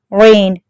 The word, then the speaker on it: reign: REIGN, rain, G is silent.